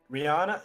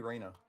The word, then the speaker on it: Reyna: Top of the round, Ryana is. I keep forgetting how to say it. Why is it not updated? It's supposed to be Reyna. I changed it to Reyna. Reyna. That's what it is.